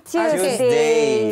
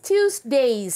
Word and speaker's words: Tuesdays: On Tuesdays. Pronounce the S. Tuesdays.